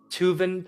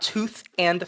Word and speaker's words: Tuvan: v a throat singing tuvan throat okay not tooth and throat people tooth and throat